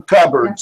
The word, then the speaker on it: cupboards: this word cardboard ok the P is silent so we press it covered okay and those are your cabinets in the kitchen for some reason we call them cupboards I don't know why